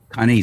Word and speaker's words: Kane: So Lonnie, Lani, should be Lanai, because most of the vowels are always the long vowels. I. If it's I, you pronounce it I. And Kane, Kane, is Kani.